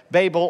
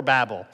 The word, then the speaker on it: Babel: babel babel or babel you know what webster allows us to say it either way babel or babel a lot of times